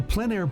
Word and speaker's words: plein air: The French pronounce it plein air. Others say plein air.